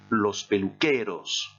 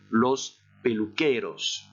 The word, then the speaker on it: los peluqueros: Alors j'ai mis l'article, je vous laisse le prononcer. Et la solution est los peluqueros. Alors j'exagère un tout petit peu la prononciation, exprès, je répète, vous répétez après moi, los peluqueros.